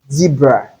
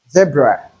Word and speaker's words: zebra: This word is not zebra, but zebra. Zebra. So we have the A sound here on the first syllable. The vowel sound we have there is A and not E. So if you call it zebra, you're wrong. The correct thing is zebra.